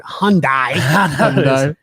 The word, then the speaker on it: Hyundai: mean he also butchered hyundai it rhymes with sunday by the way hyundai